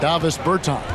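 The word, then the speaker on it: Dāvis Bertāns: Oh, well, now, at this point in my life, Davis Bertans. Is that how you say his name? Yeah. Davis Bertans.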